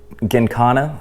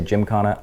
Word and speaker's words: Gymkhana: Exhaust is a Mugen Gincana, I think is how you say it. A lot of people say Gymkhana. I don't think that's right. I think it's Gin.